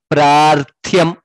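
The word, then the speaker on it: प्रार्थ्यम्: Yetat prarthyam. Tha mahaprana ya rakara there. All letters needs to be pronounced, heard also when chanting the shloka. Pra, it is pra, prarthyam, that is how it is pronounced.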